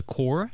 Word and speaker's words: coir: Is it called the core? COIR. That is absolutely right. How do you pronounce it? Core.